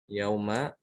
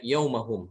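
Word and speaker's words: يومهم: Nah, kalau wakof maka kita bacanya yaumahum, tidak boleh dibaca yaum, tapi yaumahum. Beda dengan yang di atas.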